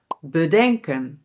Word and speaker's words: bedenken: And here the emphasis is also on the verb: "beDENKEN", "herDENKEN", "verDENKEN".